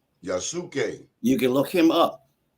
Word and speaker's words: Yasuke: The samurai that they give reference to, his name is spelled Yusake. Yasuke. Yasuke. Yasuke.